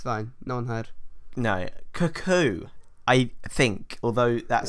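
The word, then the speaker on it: Kokou: Cuckoo, I think, although that sounds like a really funny name for an Orisha. Oh, yes, I've heard of his famous clocks. It's spelled K-O-K-O-U. cocoa. It must be cuckoo.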